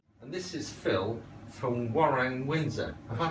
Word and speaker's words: Waroeng: And this is Phil from Warren Windsor. Have I pronounced that properly?